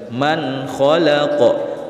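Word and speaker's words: مَنْ خَلَقَ: hold tenggorokannya yaitu hoax cara bacanya nun sukun dibaca jelas tanpa berdengung man kholaqo man khojan dibaca Alayka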